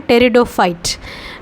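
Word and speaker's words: Pteridophytes: पर देखो बच्चों स्टार्ट तो हम स्पेलिंग कर रहे हैं पी से लेकिन पी साइलेंट होगा तो इसलिए हम इसको प्रोनाउंस करते हैं टेरिडोफाइट्स ग्रुप है एंजियोस्पर्म जिसमें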